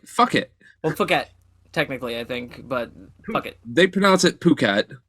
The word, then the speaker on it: Phuket: and fucking first off, the name of the place, Phuket, Fuck it. right? Fuck it. Well, Phuket, technically, I think, but fuck it. They pronounce it Phuket, Yeah, Phuket.